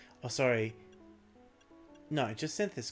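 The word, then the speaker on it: Jacinthe: No, Jasynth is correct. Jyn Synth would just be the English pronunciation of Jim.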